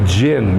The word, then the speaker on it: jinn: A jinn. You ever heard genie? I dream of genie? It's a really bad pronunciation of an Arabic word.